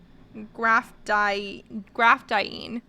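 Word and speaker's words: graphdiyne: So, have you guys heard of they told me how to pronounce it too. I'm trying to remember. Graphidine. Graphdiene.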